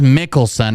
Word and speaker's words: Mickelson: He says Mickelson or Nicholson, one of the two. Nicholson? Can you spell it out for me, please? You gotta speak up, man. M-I-C-K. E-L-S-O-N.